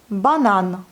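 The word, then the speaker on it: банан: Ensuite, nous avons le mot banane. C'est la banane en français aussi. L'accent va sur la dernière syllabe.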